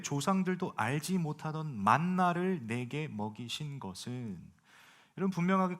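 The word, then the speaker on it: מן: 그러니 하나님께서 하늘에서 만나를 내리십니다. 여러분들 좀 재미있는 게 있다면, 만나 뭐 이렇게 영어도 만나죠. 우리가 표현하는 것도, 우리가 이제 발음하는 것도 만나인데, 이게 원어는 만입니다.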